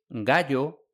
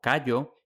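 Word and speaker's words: Gayo: historiadores y novelas históricas, la versión filológicamente adecuada de los nombres es gallo, no callo, y gneo, no gneo, es decir, con g, no con c.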